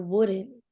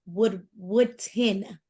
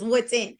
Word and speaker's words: Woodton: And I think those three right there, and even, you know, Deasia Wooden, she always says I say it wrong, but it's Deasia Woodton. I always want to say Wooden, but it's Woodton.